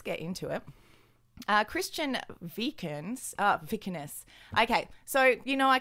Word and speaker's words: Vikernes: Vikernes. Okay. So, you know, I can't pronounce anything ever pretty much because of my Australian accent and I don't know, my tiny lady brain.